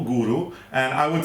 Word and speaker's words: Goro: We've got a cookie called Guru, which is spelled Goro, Guru, and I would say,